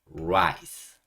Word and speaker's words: rice: 건 설명 하나 빼드렸는데 rice라고 하실 때 반드시 혀를 말아 주셔야 됩니다. rice, rice라고 하셔야지 혀가 윗니디에 붙으면서 rice, rice 이렇게 발음하게 되면 예전에 머리에 살던 이 있잖아요. 이를 얘기하는 게 됩니다. 그래서 밥을 얘기하려고 했다가 이를 얘기하는 경우도 있으니까 반드시 혀를 안으로 말아서 rice라고 해주셔야 됩니다.